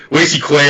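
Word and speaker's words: Lacy Clay: I think Lacey Clay. I mean, it's weird that he has a woman's name. I think it's weird that it rhymes with lazy.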